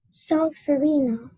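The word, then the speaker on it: solferino: for Reno is from an Italian geographical name solverino Arena that sounds about right are there any alternate pronunciations no just solve for Reno so Farina can you keep your hands up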